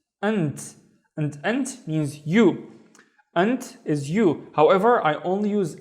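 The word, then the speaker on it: أنتِ: Now the first syllable is an, and the second syllable is ti, and I hope you can see why I'm doing this. So anti is you, but if I'm talking to a female, right?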